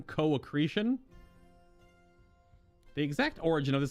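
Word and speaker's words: co-accretion: late 1800s the co accretion oh is it co-ecretion Theory that's how you pronounce that word c o dash a c c r e t i o n co-ecretion the exact origin of this hypothesis is unknown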